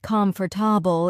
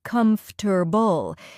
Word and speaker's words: comfortable: Yes, and comfortable is another one. It's not comfortable, it's more like comfortable.